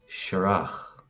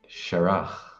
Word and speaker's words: searach: The Irish word for foal is searach. Searach. And again, searach. My pronunciation is Kerry Irish or Munster Irish. Elsewhere that might be pronounced searach with the emphasis on the first syllable.